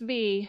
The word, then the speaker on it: Rhy: I want to say it's spelled RHY. For people who've read this book, let me know if I pronounced it wrong. But Prince Ree, who is working hard to